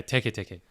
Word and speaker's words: Teke Teke: They brought Teke Teke, is that how you pronounce it? Yeah, Teke Teke.